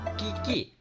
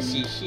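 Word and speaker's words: Qiqi: Oh, dibacanya Chi Chi ya.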